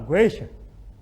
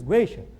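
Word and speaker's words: gueixa: Então, ninguém diz, eu vou lá contratar uma geisha. Eu vou contratar, porque no Brasil não tem isso. Mas, enfim, né? Geisha. O U não é pronunciado, ninguém diz geisha.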